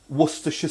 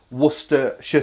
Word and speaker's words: Worcestershire: Worcestershire sauce. Now, if you say it how this is spelt, Worcester, and then shire, and say it together, Worcestershire sauce.